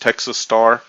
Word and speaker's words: TX Star: of the new year I am now going by TX star or pronounced Texas Star call me Texas call